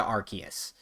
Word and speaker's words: Arceus: so i started now the official pronunciation has changed to arceus which i guess makes sense maybe i should just start doing that but i just can't i've it's always been arceus to me anywho new details